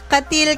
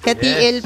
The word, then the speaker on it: Cateel: Ba kasi nung papunta kami dito, katil kami ng katil kasi C A T E L. 'Yun pala nung nakausap namin si ate Becky ng Edor's Place, Katiil daw pala yung pronunciation. So pasensya na po. So ayun nga napakaganda dito sa Katiel, Davao Oriental. Kati Davao Oriental. Hindi pala katil. Katil napakas binasa namin siya ng parang steel.